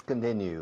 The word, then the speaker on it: continue: Okay, let's continue. Let's continue. Fijaos en pronunciación. Continue, new. Let's continue.